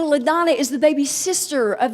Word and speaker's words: LaDonna: It is LaDonna. It is not Madonna.